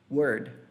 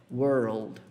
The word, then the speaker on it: world: A pronúncia dessa palavra é world. Aí sim é mundo. Então é como se você falasse word, só que antes de você chegar no D, joga o seu L lá em cima, joga a língua lá